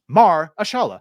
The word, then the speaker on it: Mahershala: It's spelled Mar, like Bill Maher. Right. Yeah. Mahershala.